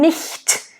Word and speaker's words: nicht: Wenn nicht. And again, the word nicht. Nice, short, I. Nice, open, I.